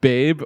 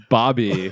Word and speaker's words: Babe: There was a good conversation of, is her name Babe or is it pronounced Bobby? It's some strange Australian pronunciation, but we confirmed in the show it was Babe.